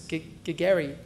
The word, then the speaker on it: Gagari: I said, well, it's Gagari, and she could never do it. I said, think of Gary with a stutter, and then she's finally got it.